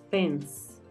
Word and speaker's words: fence: Y la pronunciación, como termina en E y tiene dos consonantes, la E suena igual, fence.